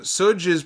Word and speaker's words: Suge: You turtle man says Suge's pronounced sug I was it sug am I not hip enough to know that like Suge Knight I know Suge Knight is it Suge I apologize Suge Dee